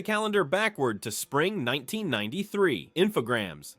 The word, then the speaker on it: Infogrames: Infogrames, still pronounced Infograms by 50% of American gamers, was riding a weirdly eclectic wave.